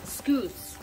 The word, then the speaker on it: Skewiz: This one is from Denise Skewiz, pronounced Skoos.